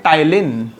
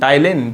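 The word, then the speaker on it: Ptyalin: ये salivary amylase का एक और नाम होता है टाइलिन, PTYLIN, टाइलिन। P silent है यहाँ पे, इसलिए हम टाइलिन बोलते हैं।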